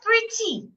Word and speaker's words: pretty: to the second syllable what if the word is an adjective like pretty pretty has two syllables pre and T and it's an adjective so I should also stress the first syllable pretty not pretty now what if the